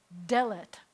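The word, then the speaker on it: דלת: the bottom left Tov so this is delat and since it's an again its a sega late so the accidents going to be on the first syllable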